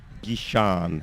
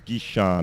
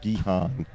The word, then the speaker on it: Gishan: ball of the over from gishan that's who it is gishan not guihan so you were right it was gishan it was just your